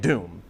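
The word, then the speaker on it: Dume: knew how to pronounce it's just d-u-m-e but like in the movie they both they say both dumas and doom so i've never i think i'm pretty sure it's douma so taraga dumas he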